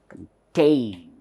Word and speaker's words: contain: how to pronounce this contain contain contain so this is not heard much it is almost swallowed whereas this is heard very clearly therefore this is upper